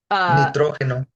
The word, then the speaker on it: nitrógeno: So it's spelled similar to the word, but it does not sound the same when you say it out loud. It doesn't sound the same. Yep. We have an accent there on the first O.